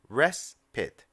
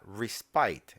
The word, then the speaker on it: respite: point out here is that the word is pronounced respite not respite it looks like it should be respite and people who are not familiar with the